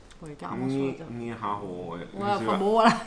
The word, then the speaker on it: Nihao: Alors j'ai du mal à le prononcer, hein, je suis désolée, mais c'est Nijao Jewelry, bijoux Nijao. C'est fort comment ça s'écrit? Qu'est-ce qu'on dit? Ah bah voilà. Ouais, carrément sur le terme. Nihao, ouais.